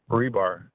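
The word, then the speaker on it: Hribar: oh that's what I've got how do you pronounce it rebar thank you you're welcome um Teresa Shanahan Teresa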